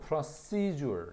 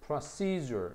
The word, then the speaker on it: procedure: 발음도 보면 procedure, seizure 여기다가 강세를 딱 줘. seizure, procedure 이렇게 발음합니다.